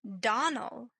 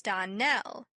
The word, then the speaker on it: Dell: Clarice Elmyra told me that you pronounced our name Donald. Now, Miss Shirley, the correct pronunciation of our name is Darnell. Accent on the last syllable.